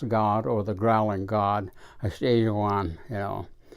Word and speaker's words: Yeibicheii: Yeibicheii, sounds like you're growling or saying house, but it is that Yeibicheii was the correct pronunciation.